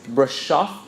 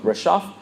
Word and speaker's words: Brașov: famous for the phrase Brașov, meaning, well, it sounds sort of like rhymes with taking your bra off.